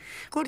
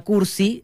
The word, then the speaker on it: Curchi: Claro, para mí difícil de pronunciar Curchi. porque justamente me sonaba a Cursi, se escribe con C después de la R también, pero Cursi. No es como... Es doble C. No es como el adjetivo Cursi.